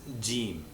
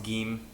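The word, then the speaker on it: جيم: in this lesson is gim Ah that's how it's pronounced in Standard Arabic in Egyptian it's pronounced G and the name of the letter indicates exactly how it's pronounced differently in Egyptian gim is pronounced as a g a g very rarely if ever as a du only in Old borrowings from words in Standard Arabic or quranic Arabic it's pronounced G back here like great or given first word we'll look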